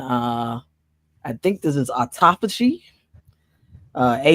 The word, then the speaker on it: autophagy: health issues and uh I think this is autophagy uh a u t o p h a g y autophagy I believe that's how it's pronounced wait one more time autophagy spell it again uh a u t o